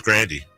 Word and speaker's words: Grande: It is Grandy. That's her. She says it. Look it up. I'm not Ariana joking. Grande. She says Grandy. She said the pronunciation's Grandy.